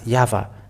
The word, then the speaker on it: Yahvah: to you to think when the Hebrew when it is read in Hebrew the Y he he is pronounced as yava even if this is